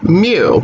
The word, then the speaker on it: mu: population mean we call mu so that is a greek lowercase m and it's pronounced like the noise that a cat makes okay you cannot write